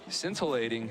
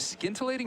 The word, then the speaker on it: scintillating: and we have a scintilating is it scintillating or scintillating I think the sea is silent yeah I think it's